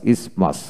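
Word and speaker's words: isthmus: তারপরে ইসমাস ইসমাস, এখানে আইএস এম ইউএস, ইসমাস, টিএইচ উচ্চারিত হবে না।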